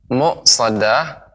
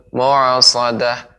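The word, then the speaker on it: مؤصدة: Ya, Ibu, pengucapan muqsadah jangan sampai menjadi ain, mu'as atau seperti terpantul. Mu'asadah, muqsadah.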